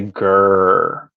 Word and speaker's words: Greer: do you say it he goes just say grrr that was funny carl sang along says lincolnville